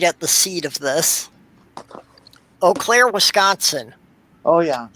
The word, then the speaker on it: Eau Claire: the seat of this eau claire wisconsin oh yeah he spell it with three vowels in a row and pronounce it with one that isn't there yeah i know